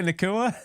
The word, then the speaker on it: Nacua: No, Puka Nacua.